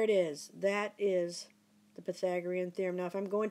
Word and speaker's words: Pythagorean theorem: Pythagorean theorem so that's how you say it Pythagorean theorem okay so that's the topic of the day